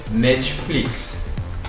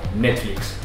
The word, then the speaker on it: Netflix: diferenças entre as duas o primeiro é netflix vocês pronunciam netflix netflix mas a gente brother em espanhol netflix o acento bunda né falando netflix com esse pé bem fraquinho porque acho que vocês adicionam a vogal um né você fala um netflix